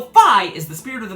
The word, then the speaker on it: Fi: titus's name wrong but you better believe i'll pronounce the weird blue lady's name correctly so phi is the spirit of